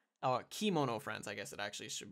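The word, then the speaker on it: Kemono Friends: a random supporting role in a show called kimono friends or kimono friends I guess it actually should be pronounced uh which is further down the list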